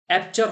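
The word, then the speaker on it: aperture: Next देखिएगा, एपर्चर। देखो, एपर्चर का यहाँ पे आपसे पूछा गया था, एप्चर होगा इसका प्रोनाउंसिएशन, होगा एप्चर।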